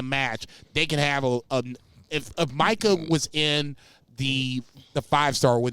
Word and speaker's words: Micah: And it was when Tanahashi slapped the fuck out of Micah. Is that how you say it, Micah? Yeah. Micah? No, you said it. No, you said it perfectly.